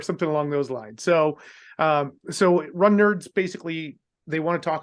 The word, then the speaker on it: Runnerds: It was like, it's pronounced Run Nerds.